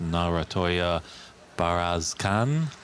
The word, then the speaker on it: Narantuya Bayarsaikhan: This is our final round-robin televised match facing the defending champion Mink Nutcharut against Narantuya Bayarsaikhan. If I'm pronouncing that correctly.